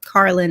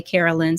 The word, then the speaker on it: Carlynn: name a bit different so it's called Carlin instead but of course people commonly uh mispronounce my name and instead they'll say Carolyn so I'm used to